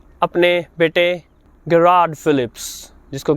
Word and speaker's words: Philips: हैं सबसे पहला तो फिलिप्स जो शब्द है इसका उच्चारण जो डच भाषा है हॉलैंड की कंपनी है फिलिप्स उनके यहां फिलिप्स का उच्चारण होता है फिलिप्स फिलिप्स हम इसको फिलिप्स बोलते हैं फिलिप्स फिलिप्स की